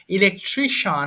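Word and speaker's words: electrician: বস্ত্র ব্যবসায়ী ড্রাইভার বস্ত্র ব্যবসায়ী ড্রাগিস্ট ঔষধ ব্যবসায়ী ইলেকট্রিশিয়ান এটা হচ্ছে বিদ্যুৎ ইলেকট্রিশিয়ান না বলে এটার উচ্চারণ করব শান ইলেকট্রিশিয়ান বিদ্যুৎ মিস্ত্রী মিনিস্টার মন্ত্রী মিউজিশিয়ান শিয়ান ছিল যেখানে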